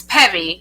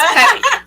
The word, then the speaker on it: Peavy: peave you can go there or it's Peevy it's pronounced pevy but a lot of people say but it's Peevy so it's pevy but um you can